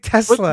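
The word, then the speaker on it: TeSlaa: Isaac Tesla.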